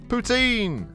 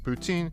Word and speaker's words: poutine: flavor maple mousse meat poutine ah the old canadian salad sure is something tasty to poutine your mouth for anyone who is unaware the french canadian pronunciation close to putin makes this joke work